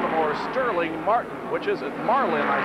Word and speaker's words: Sterling: or not to G Sterling says that you don't pronounce the G you don't put the